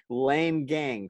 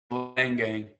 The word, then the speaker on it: Leingang: Is it Leingang, correct? Correct, Leingang.